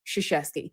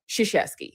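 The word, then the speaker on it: Krzyzewski: Um, but yeah, basically everybody there could pronounce his name. Shasheski. You can't spell it because it's like 13 letters in his name, but Shasheski, you can say it.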